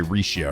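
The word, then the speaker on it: Rixia: The X is pronounced with a sh, which is why I say Risha, right?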